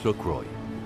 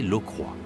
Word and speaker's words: Lockroy: base anglaise de port Lockroy en réalité il faut prononcer l'eau croix c'est en effet Jean-Baptiste